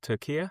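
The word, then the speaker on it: Türkiye: But as I said, up until yesterday, that was when news broke out that Besiktas from Turkey, or Turkiye, I think it's pronounced now, had agreed a €20 million deal for Leandro Trossard.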